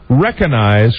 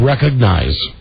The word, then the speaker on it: recognize: say the word recognize please pronounce the G it's not recognize recognize is not a word it's recognize even I know that